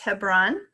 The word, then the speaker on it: Hebron: We've got the communities of Allen, Bruning, Coleridge, Glenville, Hebron, which I have also been told can be pronounced Hebron, Imperial, Talmadge, and Wallace.